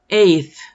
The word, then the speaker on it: eighth: Eighth, eighth. La GH no suena, así es que nos brincamos de la A a la TH.